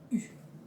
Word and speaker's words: U: So the brand says that U stands for universal. U. That's how you say it in French.